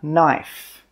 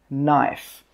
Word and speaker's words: knife: This is a knife, knife. The K in this word is silent. That means we don't pronounce it. So when we pronounce this word, it's knife.